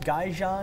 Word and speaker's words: Gaijin: he is the bartender down at was it pronounced gaja noodle g g g you got it last